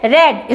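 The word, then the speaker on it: read: पढ़ना, रीड, रेड, रेड, spelling same होती है, थर्ड फॉर्म रेड।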